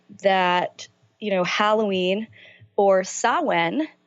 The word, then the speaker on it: Samhain: you know Halloween or saman spelled Samhain pronounced Owen is really my favorite